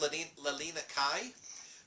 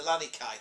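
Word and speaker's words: Leilani Kai: hard to say anyway velvet then clashes with L Lina Kai who has traded in her grass skirts for some black and gold wrestling atti K Lani Kai thank you leani Le leani you can say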